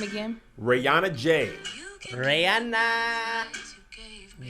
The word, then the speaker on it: Rayanajay: Her name is spelled RAYANAJAY. Rihanna J.